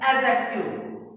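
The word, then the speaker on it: adjective: Pronoun सर्वनाम, एडजेक्टिव जिसको एडजेक्टिव नहीं बोलते हैं, डी साइलेंट होता है, एडजेक्टिव, है ना।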